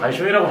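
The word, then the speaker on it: большой: 발쇼이라고 발음해야겠다, 앞으로.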